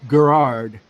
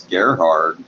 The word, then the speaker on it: Gerhard: you worked with Gerard is it Gerard or Gerard I think it's Gerhard I'm very hard Gerhard okay Jer Jer I don't know I always want to say it like the name Gerard but I know that ain't right but anyway or Gerhart